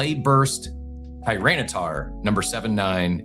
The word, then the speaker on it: Tyranitar: this 2023 Pokemon Clay Japanese Clay Burst Tyranitar number 79. It's a PSA 10. Holy, holy, holy. That was incredible. Cap, I was waiting for you to try to pronounce that. Tyranitar.